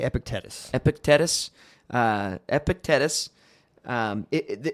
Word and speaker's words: Epictetus: Now, how do you pronounce his name? Epicus. I I say Epictetus.